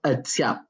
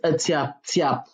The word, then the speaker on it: Atyap: In the dialect of the language, it is called Atiap. It's spelled Atyap. Some people spell it Tyap. So it depends. Atiap. That's how it's spelled in the language.